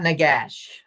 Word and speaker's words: nagash: you for the record that is a very inappropriate pronunciation of that word. It is not Nagash. It is not n a w go g go g go gosh g a h sh h. Okay. So it's nagash not nagash.